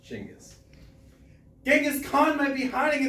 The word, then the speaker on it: Chinggis: Genghis is the English translation of the Mongolian Chingis. It's phonetically pronounced Chingis.